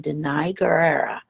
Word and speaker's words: Danai Gurira: So I just want to take the time to get the correct pronunciation of someone's name, Danai Gurira.